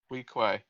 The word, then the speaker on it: Weequay: Weequay. Yeah. How do you spell that? WEE and then Key.